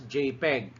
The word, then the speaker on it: JPEG: file names that jpg this is pronounced as jpeg and it is the